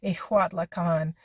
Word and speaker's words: Ixtlahuacan: I hope I'm saying, I think, because IX is always the same as an IJ would be in Spanish. So an X and a J are always H, pronounced as an H. So Ixtlahuacan is the way that I believe it's pronounced.